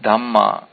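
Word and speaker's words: dhammā: What is detected by this mana indriya are called dhamma with a long A at the end. This is different from dhamma as in Buddha Dhamma.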